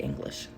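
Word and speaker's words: Eilish: I want to say Billy Isish, but she's like, "It's English is mom, it's English.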